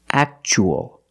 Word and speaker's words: actual: And the second word, we see T-U-A as a second syllable. So the T is pronounced ch-ch, actual.